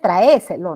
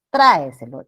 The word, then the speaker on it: tráeselo: No es traéselo, ¿no? Sino es tráeselo.